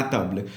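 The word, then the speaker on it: table: जैसे टेबल ले लेते हैं जिसमें मैं वीडियो बना रहा हूँ, टेबल को बोलते हैं ताबले, स्पेलिंग सेम रहती है, ताबले बोलते हैं बस प्रोनाउंसिएशन के पर्पज से।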